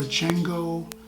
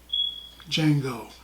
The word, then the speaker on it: Django: in the movie and Django tries to explain Jamie Foxx rides explained the names on it sells him to D is silent he's like it takes